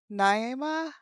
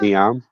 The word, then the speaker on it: Niamh: So, the elder the the elderly lady who um Nai Naima? Naima? Niamh. Niamh. Okay. Niamh. Right. So, I kind of wanted to pronounce it obviously very wrong.